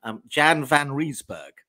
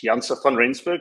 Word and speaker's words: Janse van Rensburg: Jan van Rensburg, I think is roughly speaking how you pronounce that. Is that right? That'll do fine. Thank you very much. It's Janse van Rensburg, but that's fine.